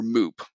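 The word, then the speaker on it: MEWP: mobile elevating work platform or moop that's how at least I pronounce it m-e-w-p an aerial device meanwhile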